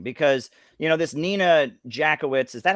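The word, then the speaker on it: Jankowicz: to say something because you know this nina jakowicz is that how you say your last name jackowitz am i saying it right jakovitz right i thought it was jack actually there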